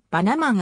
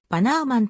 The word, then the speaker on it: Bannerman: んぼでヘレンバンナーマンと表記されたためバンガーマンとする表記が一般的であるがバナナマンあるいはバナーマンとする方が実際の発音に近いイギリス陸軍の軍医